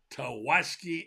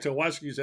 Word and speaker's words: Tawaski: We'll put the picture up of this guy and tell you about this 4-star receiver Tawaski Abrams. We won't forget his name, Tawaski. I How like many it. Tawaskis have you known?